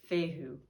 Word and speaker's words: fehu: the letter is but fehu man letter f pronunciation fehu rule number one sound familiar aries you are